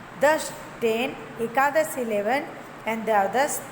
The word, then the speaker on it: दश: दश। ये हो गया आपका तलाभ्य श, मतलब इस श का उच्चारण आप तालु से करते हो।